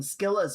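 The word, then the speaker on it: Scylla: Apparently, I have been pronouncing Skila's name wrong the my entire life. I thought it was Sila. I thought the the C was effectively silent. No, it's a hard C.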